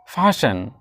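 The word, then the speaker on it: fasten: next है आपका फैसन फैसन ये टी साइलेंट है यहां पे फसन फैसन योर सीट बेल्ट बांध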